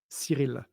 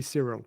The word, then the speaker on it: Cyril: Can And you pronounce your I'm name one more time? Cyril, if you want to say it Cyril. right. But you can say Cyril.